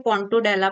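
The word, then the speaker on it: Pontobdella: और एक होता है पोंटोडेला, अब इसमें बी साइलेंट होता है, इसको पोंटोडेला पढ़ते हैं, तो पोंटोडेला कहते हैं इसको, स्कैट सकर भी कहते हैं।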